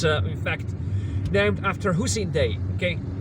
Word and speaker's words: Hussein Dey: New Day Hotel, and it's in fact named after Hussein Day.